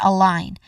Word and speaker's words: align: I mean the letter G is silent here.